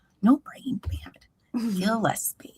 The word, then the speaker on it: Gillespie: Gillespie, like a fish.